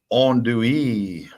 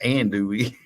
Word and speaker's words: andouille: David Hubble says it's andouille. Not and do we?